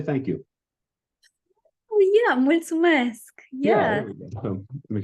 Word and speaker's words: mulțumesc: I think I pronounce it correctly, is it multi-mesc? How do I say thank you? Oh yeah, mulțumesc. Yeah. There we go. So make sure my pronunciation was okay.